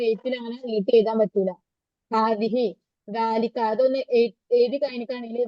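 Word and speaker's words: هذه: ഹാദിഹി ഹ കഴിഞ്ഞിട്ട് നീട്ടരുത് ഹാദിഹി ഹ കഴിഞ്ഞിട്ട് ദ ഇട്ടിട്ട് എഴുതാ അത് ഉച്ചാരണത്തിൽ മാത്രമുള്ള നീട്ടൽ ആ നീട്ടൽ ഇല്ല എന്നുള്ളത് മനസ്സിലാക്കുക അപ്പം ഹാദ എന്നുള്ളത് പുല്ലിംഗത്തെ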